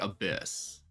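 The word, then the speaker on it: ABIS: So, it's pronounced like abyss.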